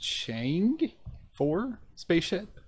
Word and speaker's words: Chang'e-4: So China's, I believe it's pronounced Chang'e-4 spacecraft has made its descent from lunar orbit